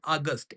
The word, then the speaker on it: August: যেমন দেখো এখানে লেখা আছে আগস্ট, AUGUST, কিন্তু এ ক্যাপিটাল। এখানে অগস্ট, এ স্মল। এই আগস্ট মানে হচ্ছে মাস আর এই অগস্ট মানে গৌরবময়। কিছু কিছুর ক্ষেত্রে উচ্চারণটাও চেঞ্জ হয়ে যায়, যেমন আগস্ট আর অগস্ট, বাস কিন্তু বেশিরভাগ ক্ষেত্রে উচ্চারণ সেমই থাকে।